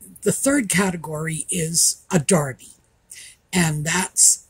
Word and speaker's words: derby: And the reason for that is we got the term from the British, and that's how they pronounce it.